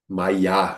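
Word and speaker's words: māyā: Então, no sânscrito, claro, aqui é uma transliteração, mas no sânscrito, por exemplo, se tem um diacrítico no AF final, então a pronúncia altera um pouquinho, é mais aberto, é mais fechado, então não é bem a mesma palavra, né? É, é exatamente maiá. É, quando tem esse travessão em cima, eles chamam de uma vogal longa, né?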